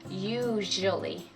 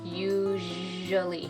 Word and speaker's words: usually: for the just sound so we want to say usually usually usually okay and we don't want anything like an r sound in there guys i love that